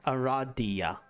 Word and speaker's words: Aradia: ARA ar ar ARA yeah there's Aradia yeah Aradia it is pronounced Ara that makes sense although you've just